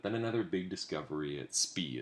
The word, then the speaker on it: Spy: neeral cranium but then another big Discovery at SP it's spelled spy but it's pronounced SP in Belgium showed multiple